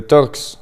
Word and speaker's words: Torx: Le Torx se prononce avec un T et puis le chiffre.